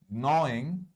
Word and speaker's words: gnawing: অলপমান মন দিব হা গ্ন বুলি কৈছো জি টো বহুত সাইলেন্ট উচ্চাৰণ এটা জি আৰু এন টো প্ৰায় একেলগে উচ্চাৰণ হয় the rabbit is gnawing এটো এটা ক্ৰিয়া শব্দ